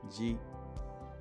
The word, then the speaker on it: じ: Shi with tenten is pronounced ji.